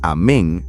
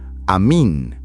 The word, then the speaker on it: amín: La palabra que Jesús utilizaba realmente en arameo no era simplemente amén pronunciada de manera diferente. Era amín, o en algunas tradiciones amín, pero con una comprensión y uso completamente transformados.